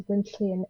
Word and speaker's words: Gwenllian: proper pronunciation yeah so i have a welsh name which means it's not uh pronounced how it's written down uh the proper way to pronounce it is dr quinchlian that's why i